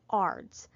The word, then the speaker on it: ARDS: and that's ARDS, acute respiratory distress syndrome, ARDS, pronounced ARDS.